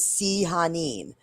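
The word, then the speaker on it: Sehanine: names correctly myself Angel the actual I like pronunciation is sehin that's like how it the D and D yeah it like gave the pronunciation of her but she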